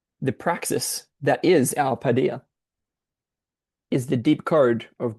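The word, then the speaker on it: paideia: I'm going to check how to pronounce that. It's padia.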